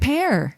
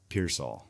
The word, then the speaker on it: Pearsall: Pearsall, but it's spelled pear. And then Saul. S-E-L-L? Pears all. So it's like all the pears.